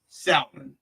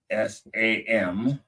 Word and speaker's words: salmon: So here I said salmon, because I pronounced that L right there.